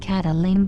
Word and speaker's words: Kathleen: the woman in question kathleen pronounced cataline by the marshallese was the mother of